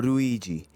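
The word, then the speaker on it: ルイージ: Luigi El hermano menor también de nombre italiano pero que en japonés se puede pronunciar como ruiji que significa parecido o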